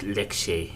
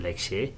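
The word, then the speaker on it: Lekshey: is my name so if I spell it out is t e n z i n l e k s h e y uh Lex so my name is Lex very nice to meet you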